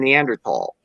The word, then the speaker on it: Neanderthal: by the th in neanderthal in german th is pronounced as a t so no however it's